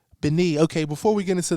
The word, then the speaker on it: Béni: I don't have the full pronunciation, and they need it as well. Let's talk about it. It's Béni. Béni.